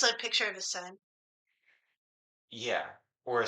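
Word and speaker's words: Sunn: Yeah, you don't say Sun O, you just say Sun.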